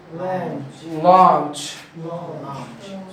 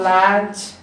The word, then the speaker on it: launch: Launch. Once again, we have A before you. It is not launch. It is launch.